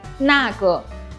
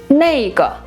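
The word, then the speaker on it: 那个: Ce serait « wo yao na ge ». On dit aussi « na ge » un peu différemment, de manière informelle : « nei ge ».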